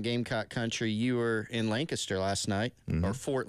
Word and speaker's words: Lancaster: I learned this morning I've been mispronouncing the name of that town mm-hmm. this entire time. It's not Lancaster. Yeah. It's Lancaster.